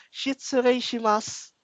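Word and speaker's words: 失礼します: Sa dulo naman, ang bigkas ng ganito, ma'am, is yung shitsureishimasu. Mas na lang po yung mga ano niyan, mas.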